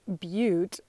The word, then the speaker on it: butte: So that's the black butte. I would have pronounced it butt, black butt, but somewhere corrected me on how to pronounce B-U-T-T-E.